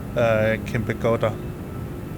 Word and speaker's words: Kempegowda: I'm not sure about that, but I do know that the airport name should be pronounced as Kempegowda, something like that.